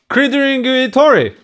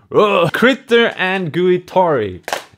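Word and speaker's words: Critter & Guitari: on it out there crittering tori that was not great pronunciation pronunciation critter and guitori is the brand they have a very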